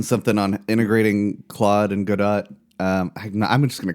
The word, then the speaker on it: Godot: Um, and uh, the guy the guy just kept saying god dot go dot like robot but god dot like he was pronouncing it like that.